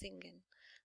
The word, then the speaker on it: singen: pronounced as shin and singen is zingen with a little Z and lay it so